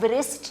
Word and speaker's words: wrist: आप रिस्ट नहीं बोलते इसको, W यहाँ साइलेंट होता है, इसके साथ R के साथ ब्लेंड होता है, आप इसको रिस्ट कहते हैं।